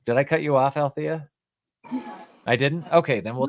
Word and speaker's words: Alethea: to speak with you Alia althia my apologies how are you you said it right the first time right my my mother put that silent e in my name and so that's the